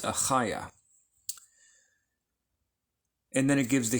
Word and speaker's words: Achaiah: It spells it with the CH. It's not a ch, it's Achaiah.